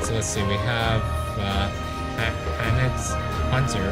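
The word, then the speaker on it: H'aanit: Pretty sure her name is pronounced Hanit.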